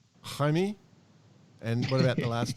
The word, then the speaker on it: Jaime: That'll be pronounced Jaime. Jaime.